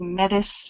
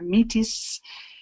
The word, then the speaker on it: Métis: The word Métis, which has a lot of pronunciations. I can remember growing up in my community, and it was Metis or Metis.